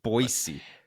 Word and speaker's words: Boise: stay around here for a few days it's boisey I don't want you going out to one